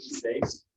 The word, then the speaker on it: seis: And these actually get pronounced together as one sound, seis. That's called a diphthong, when you have 2 vowels acting as one.